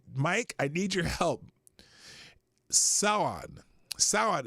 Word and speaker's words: Samhain: It's Samhain. Samhain.